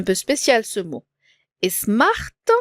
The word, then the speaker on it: Smart: spécial ce mot et Smart tous les mots se prononcent c'est un mot anglais d'accord monsieur Smart on